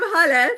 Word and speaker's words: Hale: Okay, I'm Hale, pronounced like hallelujah.